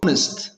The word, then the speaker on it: honest: ነው ለዚህ ነው የምናነው honest honest here it is silent honest ታማኝ ወይ ሐቀኛ